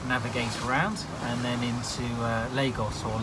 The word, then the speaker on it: Lagos: Vincent and we have a TSS scheme there we need to navigate around and then into Lagos or la gosh as a noun being told how it's pronounced life on board good my terms cook